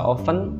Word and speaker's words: often: keseringan ya kemudian oktan often often itu atau kalian bisa baca oven Ya terserah itu bisa Open bisa Open tapi Mister bacanya often saja oxtans itu sering saya